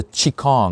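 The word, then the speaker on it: qigong: internet gratuit vous suggère aussi le tchi kan donc ça s'écrit qi g ong il ya une variété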